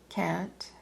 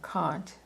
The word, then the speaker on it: Kant: Kant or Kant, some people pronounce his name Kant. I think I'll go with Kant proved that the causes